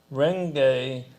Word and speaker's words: Renge: Because I want to just go through the syllables first. Myoho, the mystic or wonderful law, the universal principle of life. Renge, the lotus flower which blooms and produces seeds, simultaneously symbolizing the cause and effect of Buddhahood.